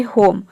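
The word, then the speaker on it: home: जैसे कि देखिए यहाँ पे है होम।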